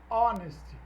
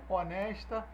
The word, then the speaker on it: honest: if there where em honest Opa se houvesse uma intenção honesta honesta intenção destes móveis naquele momento if there where and honest Kauane saiu h não é pronunciado então é hum beleza